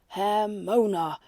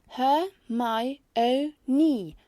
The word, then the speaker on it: Hermione: "Hermona," Krum recited obediently. "No, it's Her-my-o-ni," she corrected.